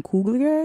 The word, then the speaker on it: Coogler: But with Black Panther, I also think we have to just really talk about Ryan Coogler. Is that how you yes, pronounce his Ryan name?